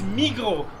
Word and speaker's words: Migros: living here for many years but they still pronounce the two big supermarkets wrongly so one is migro you write it migros m-i-g-r-o-s write it migros